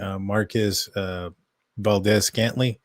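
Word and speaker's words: Marquez Valdes-Scantling: The Steelers apparently are signing Marquez Valdez-Scantling. I think I said that right. Maybe it's Scantling Valdez. Yeah, you said it right.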